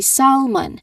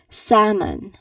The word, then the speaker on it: salmon: Now, the tricky part of this word when we pronounced is the silent L. You've noticed it right by the time I mentioned or I pronounced the word there is no L, letter L sound in there. I did not say salmon. I said salmon. Salmon. Again, salmon. So the letter L it's there in the spelling but we don't pronounce it at all.